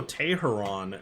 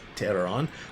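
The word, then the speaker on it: Teheran: is rather interesting so Julio Tay her on this season and I just butchered his name cuz I know it's terror on but Jake he's got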